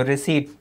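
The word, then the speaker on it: receipt: यहां पर ध्यान रखेंगे प्राप्ति है तो रिसी पी इसमें होता है लेकिन पी साइलेंट होता है इसलिए मैंने इसको कहा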